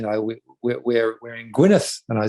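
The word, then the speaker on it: Gwynedd: i looked it up spell e d d at the end that was how they pronounced it was a place of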